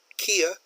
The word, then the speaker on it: Kia: awesome do you notice the spelling there is with a cake in English Kia that's a hard case out now if you're doing a presentation in English I would use the English pronunciation this is never in English this will never be the it will always be Kia because it's a hard k there okay so just